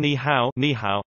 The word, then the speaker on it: 你好: Additionally, when two third tones appear consecutively, such as in ni hao, hello, the first syllable is pronounced with the second tone.